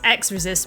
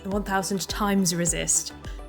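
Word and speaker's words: 1000xRESIST: played the demo and I've been mispronouncing it as X resist when it it has been confirmed it's 1,000 times resist um all right and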